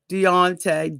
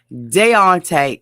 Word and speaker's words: Deontay: is dante and nicole deonte deonte since he said everybody was saying his name wrong deontay and nicole what can